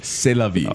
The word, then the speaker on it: C'est la vie: C'est la vie. Oh, maybe it's just C'est la vie. C'est la vie. By who? Robbie Neville. C'est la vie.